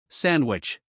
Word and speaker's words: sandwich: in the word sandwich do you notice that you don't hear a strong D sound sandwich here the letter D is between n and W so it can be dropped another example is when